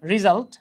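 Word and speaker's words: result: রিজাল্ট, হ্যাঁ আমরা রেজাল্ট বলি, উচ্চারণ হচ্ছে রিজাল্ট। হ্যাঁ, রেজাল্টও বলতে পারেন ইন্ডিয়ান স্টাইলে আর কি।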